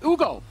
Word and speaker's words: Hugo: Pedro we have Hugo Hugo to give the proper friends French pronunciation and this is a